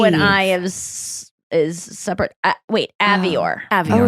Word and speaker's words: Avior: I still get nervous when I pronounce her last name. Avior. Avior. God, Oh, I thought it was avoir. I can't. It should be because it's almost like the French verb avoir.